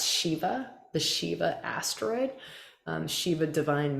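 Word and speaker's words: Siva: that's persephone this one s-i-v-a that's shiva the shiva asteroid shiva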